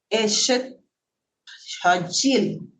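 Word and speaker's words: אשת חיל: poema tan hermoso, es una palabra del hebreo que se pronuncia Eshet Hajil, como la J, y es eso que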